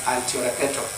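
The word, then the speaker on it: altiora peto: It's pronounced as altio repeto.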